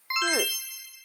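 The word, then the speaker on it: 四: Next one is si. Si. When you pronounce si, it's your tongue touch your low teeth, bottom of your low teeth with a little smell.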